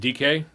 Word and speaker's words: Dyke: They also drafted another guy, Dyke or Dickey. Chimere Dyke from Florida. They actually drafted him like. I think both in the fourth it's round, actually pronounced DK, but whatever.